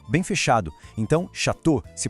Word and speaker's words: château: Então, chateau se pronuncia chateau. Não tem som de O separado. É quase mágico, né? Le Château.